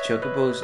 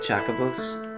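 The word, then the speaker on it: Chocobos: checkables and the finals your pronunciation is all wrong as chocoboost not checkables we're leaving as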